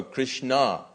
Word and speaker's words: Krishna: around his names is also Krishna with an accent on the a so Krishna is the